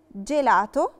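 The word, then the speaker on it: gelato: لاليترا جي لو جي وراها لاليترا اي او لاليترا اي بننطقها جي دولتشي، جي دولتشي يعني ج، زي كلمة جيلاتو ايس كريم، جيرافة زرافة.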